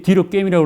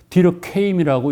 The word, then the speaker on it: 뒤르켐: 통일이 안 돼 있어요 이게 뒤로 게임이라고 하는데 어떤 데는 뒤로 케임이라고 읽어요 그 이유는이 사람이 독일하고 프랑스의 경계지역에 태어났어요 그래서 독일어권인데 그걸 프랑스 땅이니까 프랑스를 읽어야 돼요 이런 논란이 있습니다만 그래서